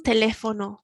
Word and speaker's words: teléfono: ¿Hay un teléfono cerca? Teléfono, we've got the accent on the E, so we can kind of hear the word, the tone in our voice climbing up in the middle.